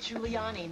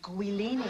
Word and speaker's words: Giuliani: I shouldn't have to tell an anchorwoman that it's pronounced Giuliani, not Guiliani.